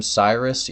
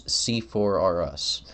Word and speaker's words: C4: is, and of course, if you pronounce their name Cyrus, you're pronouncing it wrong. It's C4R Us. Like Toys R Us, but more explosive.